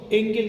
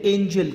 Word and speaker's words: Engel: कुछ टीचर्स इसको बोलते हैं एंजल curve. Well south Asian लोग जो है उसको एंजल बोलते हैं, बट आप यूरोपियन अगर बोलेंगे तो वो लोग उसको एंगल बोलते हैं. तो correct pronunciation should be एंगल curve.